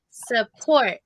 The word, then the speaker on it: support: um it's suck but don't put the emphasis on saw it's support support okay i want support